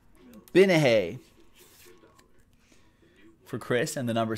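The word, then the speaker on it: Gbinije: I don't think you pronounced the G in this one. Binahe.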